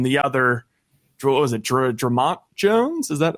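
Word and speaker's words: Dre'Mont: Jones and then the other, what was it, Dramont Jones? Is that how you pronounce it?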